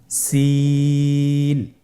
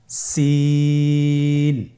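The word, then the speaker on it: سين: সিন হরফটি বারিক হরফ পাতলা করে উচ্চারণ করতে হবে। তাহলে আমার সাথে বলুন সিন। আবার বলুন সিন মাশাল্লাহ আপনাদের হচ্ছে আলহামদুলিল্লাহ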